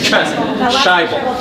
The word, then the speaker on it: Sajbel: Sajbel.